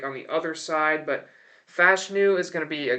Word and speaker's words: Fashanu: It's going to be Olu Fashanu out of Penn State. It is pronounced Fashanu, by the way. Olu said it himself, so for everyone's saying, it's Fashanu, it's not. But they desperately need help at tackle, the Saints do.